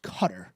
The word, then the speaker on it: Qatar: The beach volleyball men's team in the quarterfinals takes on Qatar. Although, I'm sorry, I believe it's pronounced Qatar, as we learned during the World Cup a few years ago.